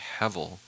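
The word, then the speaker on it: הבל: Now, one of the reasons I compare these two stories is that actually the word Abel comes from a more accurate pronunciation, which would be hevel.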